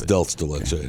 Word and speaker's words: dulce de leche: It's dulce de leche. That's dulce de leche. That's how you say it.